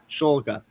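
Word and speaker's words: Shulga: the NBA draft, the Boston Celtics select Max Scholga. Is that how you say it again? Shoga. Schulga.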